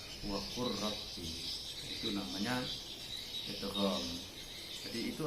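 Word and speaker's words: وَقُلْ رَبِّ: Kalau dilihat lafalnya wa kul rabbi, tapi bacanya wa qur rabbi.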